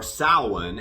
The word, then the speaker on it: Samhain: For those of you who are unfamiliar with Samhain, or Samhain as it is properly pronounced, but that's not how Danzig pronounced it.